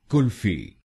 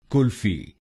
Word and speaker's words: kulfi: to an ice cream how do you pronounce it kulfi call Fee kulfi not Kal but girl kulfi